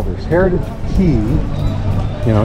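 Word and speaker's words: Heritage Quay: So that's what they call this, Heritage Key. You know, it's not Quay, it's not K, it's pronounced Key.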